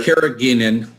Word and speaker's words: carrageenan: So we've got a lot of people asking about the how do you pronounce that, Dr.? Carrageenan.